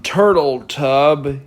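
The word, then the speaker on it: Jon Turteltaub: went through many directors including Rob Marshall John turtletub yes that's actually how you pronounce his name who worked alongside Jerry Bruckheimer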